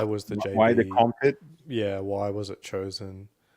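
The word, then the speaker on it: Komfit: Okay, why did NASA choose the Comfit, K-O-M? Yeah, think of it like comfort, like a different spelling, but it's spelled with K and it's K-O-M fit.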